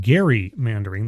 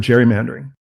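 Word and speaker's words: gerrymandering: and it is pronounced Gary mandering the guy's name was Gary not Jerry just for those of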